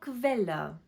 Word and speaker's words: Quelle: k u make the sound kv, for example, Quelle. And last one, e g typically at the end of the word make the sound ich, for example, zwanzig.